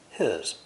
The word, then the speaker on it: his: words are he's and his he is the first word of this sentence so the h is clearly pronounced but the h of his is silent or unpronounced the w of watch